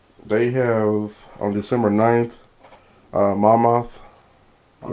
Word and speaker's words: Monmouth: They have, on December 9th, Monmouth. Is that how you say it? Monmouth. Monmouth.